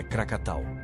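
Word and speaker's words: Krakatau: O nome em Indonésio é cracata. Acredita-se que a forma cracatoa tenha surgido por erro de pronúncia de marinheiros europeus, especialmente britânicos, que ouviram o nome de forma incorreta e o registraram assim em seus relatórios.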